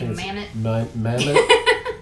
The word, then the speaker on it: Mammut: This is a soft shell, soft tech jacket from Mammut. I believe that's how you pronounce that. I think Americans say Mammut. It's a Swiss brand. Okay. Mammut.